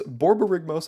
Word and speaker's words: Borborygmos: now laugh at yourself and know that it's borborygmos and fibblefip because that card is hilarious Corruption